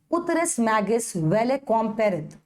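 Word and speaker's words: ut res magis valeat quam pereat: ठीक है, ऐसा ही बोलना है, उतरेस मैगिस वेले कॉम पेरेत, ऐसा बोलना है। बोलो मेरे साथ, उतरेस मैगिस वेले कॉम पेरेत, ऐसा ही बोलने की आदत डालनी है।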